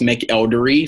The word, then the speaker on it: McElderry: are dr dr and my last name is pronounced make eldery so that's MC e